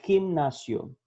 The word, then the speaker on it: gimnasio: La G corresponde a dos sonidos, delante de E y I, como general e gimnasio. Ele vai ter esse som chiado, tá bom?